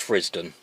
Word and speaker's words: Frithsden: can see it's spelled frith's done but it's pronounced frisdon as though it had a zed whether or